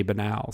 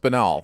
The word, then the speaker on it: banal: of that because like most people would say banal so that was interesting how that one turned out because it's pronounced banal it is it is that is the actual